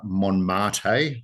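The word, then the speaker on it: Montmartre: And this year this is the this uh Mon mate. The T is silent I have been told by by a Frenchman.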